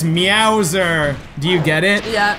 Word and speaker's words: Meowser: what that is it's meowser do you get it yeah because it rhymes with Bowser but it starts with me out I guess it's a